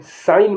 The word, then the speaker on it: sign: अब देखिए, जिसमें जी साइलेंट होगा उनके बारे में बताने जा रहा हूं मैं। SIGN, साइन माने चिन्ह।